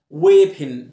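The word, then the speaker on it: weapon: دب وبير يعني كمثرى، ويبن سلاح، والاو هنا ما بنطقهاش، ويبن او بنطقها شورت اي، ويبن، زي كلمة بيرر اللي هو حامل الرسالة.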